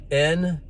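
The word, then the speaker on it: נשא: And this Hebrew word, lift up, is spelt N-A-S-A.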